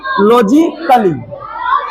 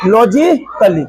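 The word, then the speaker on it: logically: क्या हो गया लॉजिकली लॉजिकली उस प्रय क्रिटिकली क्रिटिकली क्रिटिकली और ये रोमांटिकली क्या पढ़ेंगे इसको रोमांटिकली समझ में आया अगर ए के बाद डबल एल वाई आए तो उसका उच्चारण नहीं होता है ए का उच्चारण नहीं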